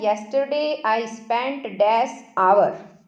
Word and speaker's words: hour: अब आगे यहाँ है, yesterday I spent dash आवर। आवर में स्पेलिंग देखिए HOUR है, स्पेलिंग यहाँ पर H से शुरू है लेकिन साउंड आ रही है आ की, आवर बोलेंगे इसको, ठीक है, हावर नहीं बोलना, आवर।